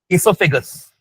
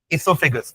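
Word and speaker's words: oesophagus: ठीक है next part सो फगस सो फगस spelling start होगी ओ से सो फगस ये इसका थोड़ा सा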